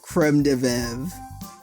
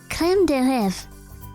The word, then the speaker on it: crème de lèvres: That's why I've never heard of creme de velve. Valerie giggles. What? Sorry, your accent. It's crème de lèvres.